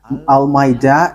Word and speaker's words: Almeida: So, the way you write it, Almeida, is as it is pronounced, Almeida.